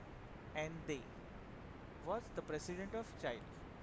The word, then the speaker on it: Allende: The spelling is Allende. We normally can be pronouncing Allende, but it's not like that. We have to pronounce them as Ande.